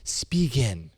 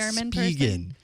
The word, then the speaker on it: Spigen: So their ads pronounce it Spigen. Yeah. In the U.S., we say it differently. Spigen. Okay. I don't know. It's still going to be really hard for me to change that from Spigen to Spigen. It's spelt Spigen, so of course you'd say it that way.